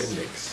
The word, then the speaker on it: Syndics: It's called the Palace of the Syndics. Syndics? Yes. Syndics. S-Y-N-D-I-C. S. Could you spell that?